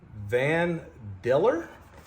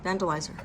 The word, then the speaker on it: Vandalizer: And then we've got Vandalier? How do you say that? Vandalizer. Vandalizer. I just totally jacked that up.